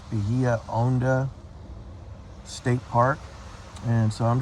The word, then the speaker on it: Honda: thank you okay I'm at the Bahia Honda State Park um it's in the Florida Keys and the name is Bahia h-o-n-d-a most people say Honda but it's officially pronounced owned us so it's Bahia owneda State Park and so I'm just relaxing on